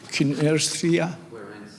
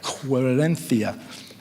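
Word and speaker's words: Querencia: How do you say this book? Quarencia. Quarenthia. Cia like cia.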